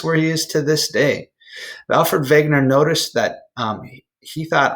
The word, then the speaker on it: Wegener: guy his name is Alfred Wegener even though his name starts with the W it's pronounced like a V Alfven vague nur he was a brilliant